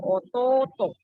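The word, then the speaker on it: otōto: Kalau bahasa Jepang itu bedanya paling kayak panjang pendeknya kayak ototo. To-nya panjang imoto.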